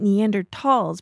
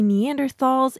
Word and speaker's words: Neanderthals: neanderthals scientists pronounce it neander talls because it's German and Germans pronounced sounds differently than English we're going to pronounce it like the scientists do but you can say neanderthals if you want now